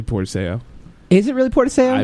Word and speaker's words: Portacio: Will Portacio, which is actually Portaseo.